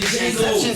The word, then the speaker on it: Django: Y'all better stop saying Inception Django. That's still silent. I love that movie. I said Django just now. I love that. He did. The D is silent. Django? It is silent.